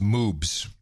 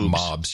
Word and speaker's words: moobs: okay by the way it's pronounced moobs not mobs you said mobs or something i don't know what you said i thought i said